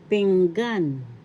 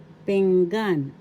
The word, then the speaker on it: pinggan: Tagalog word, pinggan. Pinggan. First syllable ping, second syllable gan. The accent is in the second syllable, so we say this Tagalog, pinggan.